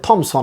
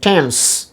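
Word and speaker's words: Thames: ইংল্যান্ডে একটা নদী আছে টেমস, কিন্তু অনেকে বলে থেমস, টিএইচ দিয়ে লেখা হয় তাই বলে থেমস, অ্যাকচুয়ালি টিএইচের উচ্চারণ এখানে টা হবে কি টেমস।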